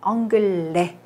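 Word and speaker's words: anglais: 엉글레. 역시 발음되지 않아요. 끝에 S.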